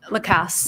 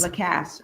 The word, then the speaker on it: Lacasse: I'm sorry, how you pronounce it? Lacasse. Lacasse.